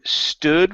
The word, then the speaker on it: stood: railings okay stood stood open your mouth up just a little bit more I stood by the